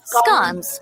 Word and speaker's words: scone: the stamp of approv scon scun scones or as some denisons of the UK say it scun are a type of